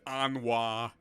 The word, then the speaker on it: Anwa: It's like Now we pronounce his name as Anwa.